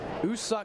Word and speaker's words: Woo-suk: six Jacob Miller out usuk go is in spelled with the w the W is silent he pitch one scoreless